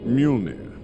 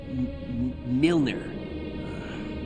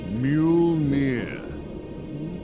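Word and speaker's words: Mjölnir: Mjolnir. Milner. Mjolnir.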